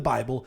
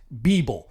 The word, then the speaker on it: Bible: He also preached out of his own version of the Bible, which he pronounced Beeble. Not Bible, but the Beeble.